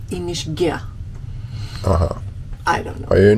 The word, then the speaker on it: Inishkea: great morning here at inish Kia which we visited yeah I think they pronounce it inish G uhhuh I don't know